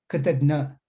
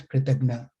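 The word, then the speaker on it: कृतघ्न: Kritagya, Kritagna. These are two Sanskrit terms with a very slight one syllable difference.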